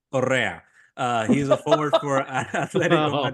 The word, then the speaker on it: Correa: It rhymes with I hate that guy. Correa.